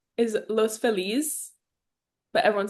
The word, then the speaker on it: Los Feliz: like everyone in the Latin community like don't pronounce it properly just because that is what like Los Felis is los feliz but everyone says Los Felis and then San Pedro San Pedro Pedro but